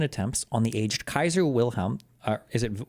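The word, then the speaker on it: Wilhelm: on the Aged Kaiser wilham uh is it is it wilham or is it vilhm how do they say this on the Aged Kaiser vilam the in 1878 okay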